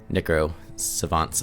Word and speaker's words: Necro Savants: Necro Savants, I should say, because that's, how you actually pronounce it.